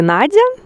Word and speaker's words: Надя: И произносится Надя, как и в русском языке.